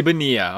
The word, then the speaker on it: Bonilla: Bobby Bonilla. Okay, I was saying it wrong. The two L's are both silent.